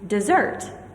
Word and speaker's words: dessert: Desert. This means a hot, dry place. But if I put the primary stress on the second syllable, it is dessert, which means a sweet dish served after dinner.